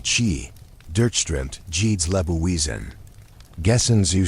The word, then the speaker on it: Qi: Dies unsichtbar, kraftvoll Energie namens Qi, ausgesprochen Qi, durchströmt jedes Lebewesen.